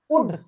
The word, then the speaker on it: would: Two members under MMKVY वुड, देखिए यहाँ पे गौर करने वाली बात है, यह है वुड, WOULD, उल्ड नहीं पढ़ेंगे इसे, यह है वुड, L साइलेंट है।